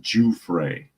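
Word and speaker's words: Giuffre: All people confirms he says uh um that the her last name is pronounced Juay.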